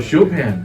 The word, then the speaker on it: Chopin: How do you pronounce his name? Oh, Chopin.